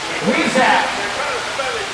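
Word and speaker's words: huisache: So if I can't pronounce it. What are they called, Matt? Weezak.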